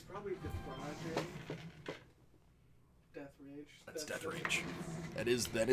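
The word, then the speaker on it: Deatherage: So his name is Brock Death Rage. What? That is how forever his name will be pronounced.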